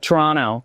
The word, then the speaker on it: Toronto: Don't pronounce the second T. I'm going to teach you the Canadian way to say it. Toronto.